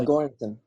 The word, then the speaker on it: Göransson: Hopefully I'm I'm Uh Göransson. Yeah, I've butchered that name.